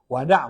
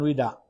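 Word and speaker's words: Wada': Ya, Wada bacanya ya. Bukan wida, wada.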